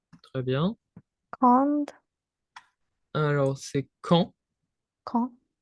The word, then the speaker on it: quand: Alors, c'est quand. Quand? Le D est muet. Pas de son.